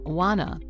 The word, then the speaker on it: wanna: So, want to would become wanna.